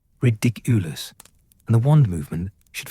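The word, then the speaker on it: Riddikulus: The emphasis is on the second syllable, ridiculous, and the wand movement should feel light, almost like you're tossing something into the air.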